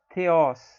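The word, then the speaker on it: θεός: A gente costuma ler theos, né? Mas a pronúncia é com esse som do TH do inglês. Theos, theos.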